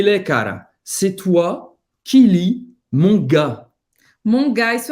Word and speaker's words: lis: O S não se pronuncia no final. C'est toi qui lis, mon gars.